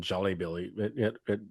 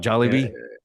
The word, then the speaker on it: Jollibee: I say at the very end, it's going to be better than Jolly Billy. Jolly Billy's. Jolly Bill? Billies? What is it called again? Jolly Bee is Are you awful. talking about Jollibee?